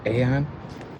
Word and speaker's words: AAON: I said a a Because it's pronounced Aon.